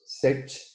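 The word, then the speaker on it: Cech: Y digamos que a partir de la observación y el descubrimiento de Thomas Sech se escribe C-E-C-H, en el año 1983, trabajando con unos protozoos ciliados que se llaman tetraimena.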